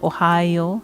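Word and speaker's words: おはよう: Ohio. Not pronounced like the the American state of Ohio. Ohio. There's no e sound in there.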